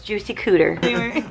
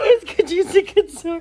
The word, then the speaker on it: Juicy Couture: I said, no, it's Juicy Cooter. Okay. Juicy Couture. What is it? Just tell me. Juicy Cooter. Cooter? What? It's pronounced Cooter?